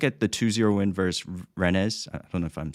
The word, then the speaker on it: Rennes: And so if you look at the 2-0 win versus Rennes, I don't know if I'm saying it right, Rennes, and then Ren, sorry.